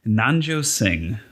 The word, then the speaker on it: Nanjo: the reasons you'll hear about well can you pronounce his name for me nanjo okay why am i drawing forget about him